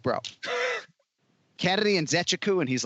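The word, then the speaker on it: Nzechukwu: the athlete and i'm like bro kennedy and zechaku and he's like perfect i'm like all right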